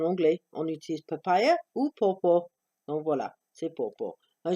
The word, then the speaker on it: Dr. Pawpaw: Et donc, c'est pas pow pow, c'est pas popo, c'est pawpaw. D'accord? C'est Dr. Pawpaw. Et pawpaw, c'est juste un autre mot pour papaye en anglais. On utilise papaya ou pawpaw.